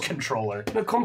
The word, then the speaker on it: comptroller: control of the Comptroller I was so mad when I heard it was just controller why does it have a P friggin break it's not